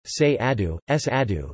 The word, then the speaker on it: Cerrado: The Cerrado, Portuguese pronunciation, Cerrado, is a vast tropical savanna ecoregion of Brazil,